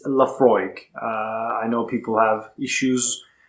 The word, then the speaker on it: Laphroaig: the most important information it tells you how to pronounce it and it's laphroaig i know people have